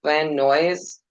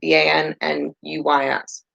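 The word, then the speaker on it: Van Nuys: Noise, Van Noise. How do you say that? Vannuys.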